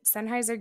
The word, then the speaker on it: Sennheiser: Sennheiser Gaming, yep.